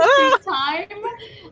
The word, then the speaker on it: sueptime: It's always soup time. Soup time is spelled sueptime, so SUEPTIME, because